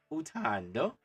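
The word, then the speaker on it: uthando: of love, it was utando, which means love. How you say it? Utando, like a door, but you add an N so that it's on the throat.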